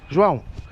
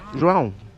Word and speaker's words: João: But how do you actually pronounce it? João, yeah, we have Joy. Portuguese is Joy.